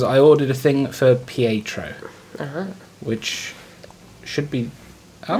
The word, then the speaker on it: Pietro: And today is Pietro, who is, that's apparently how you say it, Pietro's birthday.